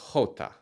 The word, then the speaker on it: jota: The letter itself is jota. It starts with that English H sound.